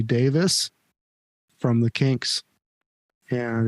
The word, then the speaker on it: Davies: Mr Ray Davis and a lot of people think his name is Davies but it's actually pronounced Ray Davis from The Kinks and